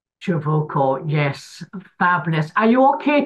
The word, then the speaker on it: Ciavucco: Nobody can pronounce it. It's Ciavucco. Ciavucco, yes.